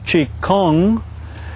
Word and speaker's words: Qigong: Is correct pronunciation coming out of China is Qigong.